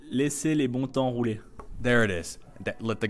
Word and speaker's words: Laissez les bons temps rouler: I probably said it wrong. But that's what that "Laissez le bon." Am I saying it right? Okay, how would you say so I can get it right? Laissez les bons temps rouler.